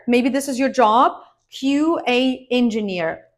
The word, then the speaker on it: QA: this is your job QA engineer QA not Kua QA engineer in general you need to remember that acronyms in English are pronounced as separate letters of the alphabet that's why we say